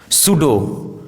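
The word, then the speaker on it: pseudo: यदि किसी वर्ड में पी एस साथ में हो तो पी का उच्चारण साइलेंट होता है जैसे साइकोलॉजी साइकेट्रिस्ट सूडो साइकोथेरेपी इन सभी वर्ड्स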